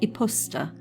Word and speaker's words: iposita: It's spelt ‘iposita’ but when people say it, it sounds more like ‘iposter,’ which is easy to remember.